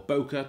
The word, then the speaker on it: bokeh: going to give you a lovely bokeh or bokeh depending on how you want to pronounce it that is the depth